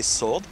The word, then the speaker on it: sword: it's a sword yeah don't we say sword W is silence it is hey you